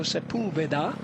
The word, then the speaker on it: Sepulveda: And this is the sound of me making notes about how to pronounce Eduardo Sepulveda. Sepulveda.